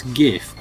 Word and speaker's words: GIF: What's the right way for the G pronunciation? Is it GIF or GIF? It's GIF.